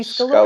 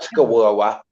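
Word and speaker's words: scarola: Honey, Scalora is Scalora, that's the saying. everywhere. not Skawawa, not Skawawa, Scalora. This is how you say it, Scalora.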